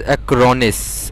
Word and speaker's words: Acronis: what is that i don't know if i'm spelling it correctly oh yeah it's acronis i mean pronouncing it correctly all right so acronis cloud